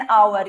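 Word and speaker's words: hour: जैसे कि एन आवर, ये एच से जरूर शुरू हो रहा है, लेकिन हम इसको जब प्रोनाउंस करते हैं तो हम आवर पढ़ते हैं।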